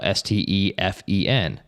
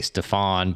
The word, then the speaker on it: Stefen: And so we said, what if we just spell Stefen? Because that, I mean, it's hard to mispronounce that. Yeah. Some people might say Stefan, but there's no A in there.